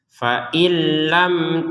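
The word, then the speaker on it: فَإِن لَّمْ: Karena kita akan menggabungkan dengan lam maka dibacanya fa'il, il. Fa illam taf'alu, mim sukun bertemu tak sama dengan sebelumnya mim sukun bertemu shad ya, dibaca dengan jelas.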